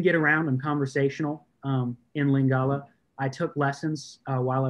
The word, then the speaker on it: Lingala: Elanga? No. Lingala. Lingala. Yes, Lingala. Do you already have a certain level of proficiency in that language? So I can get around. I'm conversational in Lingala.